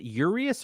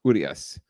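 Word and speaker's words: Urías: so good on him so they're they're lefty uh is it yurious or urias urias urius i think the accent is on the ooh so it's urias and uh and the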